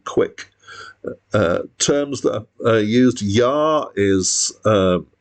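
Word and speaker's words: Jah: So there's, for example, there's a track here called No Yah Today, so that means Yar is spelled with the J.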